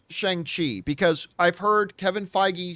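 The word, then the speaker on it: Shang-Chi: pronounced s-h-u-n-g is how it's pronounced it is pronounced shang chi so for all those you guys who were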